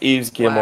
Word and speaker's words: Yves Guillemot: Yeah, I looked up how to pronounce his name. It's Yves Guillemot.